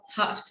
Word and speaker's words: half: It's about having some examples, which is that L should be silent, like half time, halfway, like half weighted, or like would, could, should. Right? I mean, these letters or these were the L is silent in them.